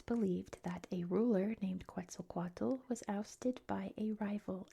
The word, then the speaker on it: Quetzalcoatl: Like so I'm pronouncing Nahuatl as they're pronounced in English and it's Quetzalcoatl in English, so get that out the way. I know it's pronounced different and I have mad